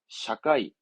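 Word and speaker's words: 社会: 더 있어요 그렇지 회사를 거꾸로 읽으면 사회잖아요 사회 발음은 샤카이 사카이처럼 하나를 봤을 때에 그거를 이렇게 뭔가 지금처럼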